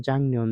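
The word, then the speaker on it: 작년: ২ নম্বর ছিল হচ্ছে জাংনিয়ন। দেখেন এটার উচ্চারণ জাংনিয়ন।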